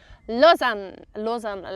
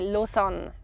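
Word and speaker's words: Lausanne: French speaking part but if you are in the Swiss German speaking part talking about this town we would say Lozan like the French actually Luzan they say Lozan we just say losson losson yeah it's the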